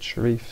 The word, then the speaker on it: Sherif: no definitive answer however I find more people pronounce it Sharif so that's the way I'm going to pronounce it however you pronounce